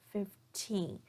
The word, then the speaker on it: fifteen: example of worse dress 15 notice here that I'm stressing the second syllable teen 15 versus 50/50 so in 50 I'm stressing the first syllable v d50 so this